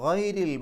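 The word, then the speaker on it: غير: അപ്പോൾ അൻഅംത അലൈഹിം ഗൈരിൽ മഗ്ദൂബി, ഗൈരി എന്ന് പറയുന്ന സ്ഥലത്ത് റാഇന് കസ്റ ആയതുകൊണ്ട് രി എന്ന് പറയണം. റാഇന് കെസ്റുള്ള സന്ദർഭങ്ങളിലൊക്കെ റാ എന്നുള്ളത് റീ എന്നുള്ള ഉച്ചാരണമാണ് കൊടുക്കുക.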